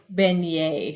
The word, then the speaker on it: beignet: The fried dough is called a beignet. You say beignet. She's spelling it phonetically.